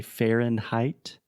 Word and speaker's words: Fahrenheit: more for some reason when you say Fahrenheit the first part fair in you have the final in sound so to produce this sound the tip of your tongue is touching the top of your mouth the roof of your mouth and that's how you're closing that sound okay so when you